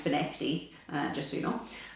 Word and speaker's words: Findochty: fishing time it's spelled findokti but it is pronounced for Nifty uh just so you know um very confusing